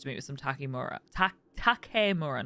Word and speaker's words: Takemura: Takemura, not Takimura.